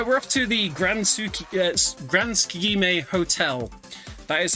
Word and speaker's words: Tsukigime: But yeah, we're off to the Grand Tsukigime Hotel. That is how you pronounce it.